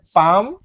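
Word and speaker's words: palm: এখানে এল এর উচ্চারণটা হবে না, এল এর উচ্চারণটা এখানে উজ্জ্ব থাকবে। তাহলে পাম, পামার।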